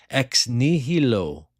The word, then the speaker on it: Ex Nihilo: It's pronounced ex nihilo.